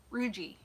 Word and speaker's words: Rougie: So, Hard G. So, Rugi. Rugi, Rugi? you're okay with that?